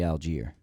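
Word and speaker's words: Allgeier: Algier. Algier. I think it's Algar. I thought it was Algier too, but the announcers say Algier.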